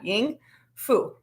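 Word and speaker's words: 英孚: you can practice that ready ying like ying yang yeah ying fu like food but just no so ying fu um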